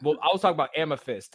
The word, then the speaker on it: Amethyst: um what can amnes i've been saying your name wrong amethyst amethyst amethyst like i got a mic i got like like mike tyson it is amethyst i'm putting fist in it it's because you're so